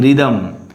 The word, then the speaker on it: rhythm: Rhythm. H is hidden.